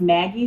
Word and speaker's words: Maggi: it's pronounced Maggie seasoning.